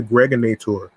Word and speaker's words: Greg Nator: This is your man and homie aka the Greg Nator rhymes with now or later like the candy your host with the